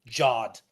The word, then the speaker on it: Ghad: What if the supreme being came down to Earth and was like, it's actually pronounced Jod.